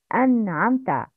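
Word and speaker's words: أنعمت: It's an'amta. Please repeat after me the correct pronunciation. An'amta. It's an. But it's not an'amta.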